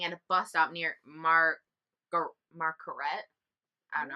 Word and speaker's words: Marquette: He was approached by Dahmer while he was waiting at a bus stop near Marquette. I don't know how to pronounce it. Margaret.